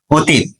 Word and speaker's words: অতীত: যদি হ্রস্বইকার থাকে বা দীর্ঘইকার থাকে তাহলে পূর্বের যে স্বরেয়টা রয়েছে এটা অতে পরিণত হবে। কিসে পরিণত হবে? অতে পরিণত হবে। তাহলে আমাদের এটার উচ্চারণ কি হলো? অ তয় হিসি তয় হসন্ত, অতীত।